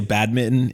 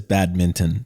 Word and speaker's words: badminton: Min that's the question he pronounces he he pronounces the N that's what it is cuz I say bad Mitten and he says badminton is badminton yeah there's actually